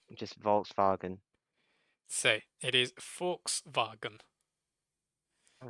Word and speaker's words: Volkswagen: actually pronounced? I'm not good at German, so probably like just Volkswagen. So it is Volkswagen.